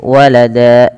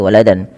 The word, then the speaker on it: walada: Maka walada, cara membacanya menjadi walada, bukan lagi waladan.